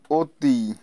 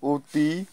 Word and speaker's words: অতি: হয় দক্ষ লক্ষ ইত্যাদি পাঁচ নাম্বার শব্দের শুরুতে ও এর পরে যদি ই কার বা রসুকার থাকে তাহলে ও এর উচ্চারণ ও এর মত হয় যেমন অতি তারপর দেখো অরুণ ইত্যাদি